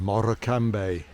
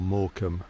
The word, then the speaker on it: Morecambe: carlyle line lancaster and moroccan bay or morecambe as it's more normally pronounced there we go yeah